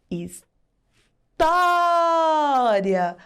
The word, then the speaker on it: história: Quando a letra o recebe o acento agudo, o som fica bem aberto. Is tó ria.